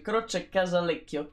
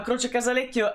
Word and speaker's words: Croce Casalecchio: 1963 è cresciuto a croce casalecchio provincia di bologna che si pronuncia proprio così croce casalecchio per una volta sono in casa quindi riesco anche pronunciare mai i luoghi insomma croce casalecchio è un posticino proprio